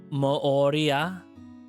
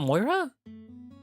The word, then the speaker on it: Mooria: Is that how you say it? It's not Moira?